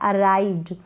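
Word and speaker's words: arrived: Double R को क्या पढ़ रहे हैं, र पढ़ रहे हैं, और ये जो आई है इसको आई पढ़ रहे हैं। क्या पढ़ रहे हैं, आई, और वी का आधा व उच्चारण हो रहा है, आधा व पढ़ा जा रहा है।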